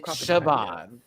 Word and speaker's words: Siobhan: Okay, so it's Siobhan.